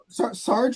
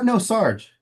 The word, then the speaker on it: Sarge: Am I saying that correctly? Sarge is fine. No, how do I say it correctly? Sarge. Sarge. It is Sarge.